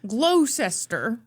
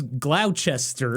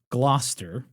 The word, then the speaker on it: Gloucester: And thank God I looked up how to say the name of that town. I was suspicious right away. Glowester. I thought it was Glowchester. Uhhuh. Gloucester.